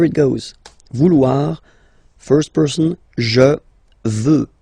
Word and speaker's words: je veux: Vouloir, first person, je veux, final X not pronounced.